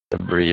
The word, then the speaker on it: debris: the word debris again debris very good uh yeah that one's tricky for some reason I don't actually know why but the S sound we do not pronounce in debris um um we're going